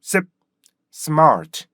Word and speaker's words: smart: 리듬 발상이 그렇기 때문에 그걸 바꿔 주기 위해서 스마트 이렇게 스로 시작하는게 아니라 습 Smart 습 Smart 습 Smart 이렇게 연습하시면 영화의 발성과 리듬감 탄력을